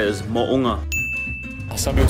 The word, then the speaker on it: Mo'unga: The proper way to say it is Mo'unga.